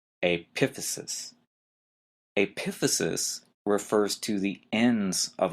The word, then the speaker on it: epiphysis: the next term is epiphysis p i p h y s i s again notice the stress is in an odd place the second syllable epiphysis epiphysis refers to the ends